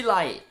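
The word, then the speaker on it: Laryea: Okay, new pronunciation. Richie Lai.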